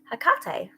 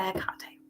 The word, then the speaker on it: Hecate: I know people pronounce it differently, depending on where you're from or, you know, the culture and stuff. But I just say Hecate. That's how I pronounce it.